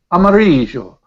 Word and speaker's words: Amarillo: a beautiful word amario if you're if you're in certain certain parts of Spain Amar uh because the J would be pronounced harder in some accents yeah Amar uh and what happens the Americans take it and there's a beautiful city amario and they call it Amarillo Amarillo Amarillo by God